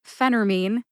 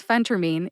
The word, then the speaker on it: phentermine: phentermine in my book Phentermine is the official pronunciation Phentermine is something that you may also hear people say so let's add that to our list some people say Phentermine others say phenter-min Phentermine is correct and Phentermine is something that I